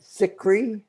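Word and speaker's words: Zicree: like to read mark thickery am i pronouncing that correct sick cree yeah he so uh he's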